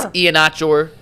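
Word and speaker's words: Iheanachor: I know for 100% fact Ianachor? It is Ianachor.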